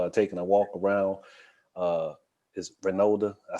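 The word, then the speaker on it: Reynolda: Is Renolda.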